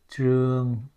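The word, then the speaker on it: Trương: all right t r u o n g true repeat it you don't hear the in there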